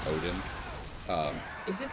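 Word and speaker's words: Oedon: It's spelled different from like, you know, Norse mythology, but it's still pronounced Odin.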